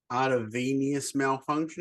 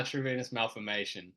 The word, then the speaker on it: arteriovenous malformation: It's an artervenous malfunction. Is that the right way to say it? Yeah, arteriovenous malformation.